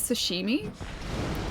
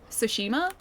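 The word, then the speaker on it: Tsushima: just say ghost of sushimi?" Uh because I I have trouble saying um uh sushima with my trays and so I think like my sushima turned into something closer to sush uh sushimi.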